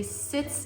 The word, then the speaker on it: sitz: a shallow bath actually sits it sounds like the word sits like you're sitting down but it's s-i-t-z it's a german word sits in and it actually means to sit here is a sitz